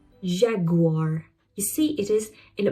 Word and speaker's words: Jaguar: Jaguar. Jaguar.